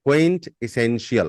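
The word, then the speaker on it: quintessential: कर रही थी okay the next word is क्विंट एसेंशियल क्विंट एसेंशियल the spelling is क्यू यू आई एन टी ई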